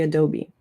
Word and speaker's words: Adobe: Um you say Adobe. So, think of a bee, like a bumblebee. Adobe. Um I hear some people say a dob, maybe, as far as I can remember, but it's actually Adobe.